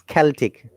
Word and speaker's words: Celtic: one moment it is celtic this is this c sounds like car there is a rule